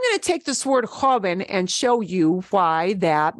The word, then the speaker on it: joven: Joven ends in an N. Words that end in a vowel or N or S. This happens to end in N. Joven. Joven. Joven. Joven. Two syllables. Second to last is a jo. So it's joven.